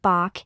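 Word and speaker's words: 박: an English native speaker it would be helpful for you to pronounce the initial sound of biop more closely to the English voice sound B rather than the voiceless sound P similar to how a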